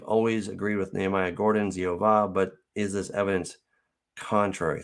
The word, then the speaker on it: Yehovah: So it could be that is an abbreviation for Yahoo or for Yahweh or Yehovah. I'm of the persuasion also, like Nehemiah, that Yehovah is the correct pronunciation, but we do see variations on that theme.